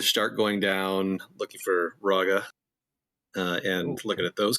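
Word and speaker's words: Rhogga: but in session two it was Raga so Raga that's how everyone you want to pronounce it as r h o g g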